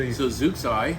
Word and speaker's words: Zooxae: So Zooxae, that's Zooxae. how we pronounce it.